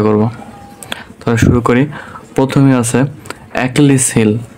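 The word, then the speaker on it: Achilles heel: প্রথমে আছে একলিস হিল। বানানটা দেখব এ সি এইচ আই এল এলই এসলিস হিল। এখানে আমরা এটা সিলিস মনে হইতে পারে। কিন্তু এ সময় কা উচ্চারণ হয় তাহলে একলিস হিল একলিস হিল অর্থ কি দুর্বলতা দুর্বলতা বা উইক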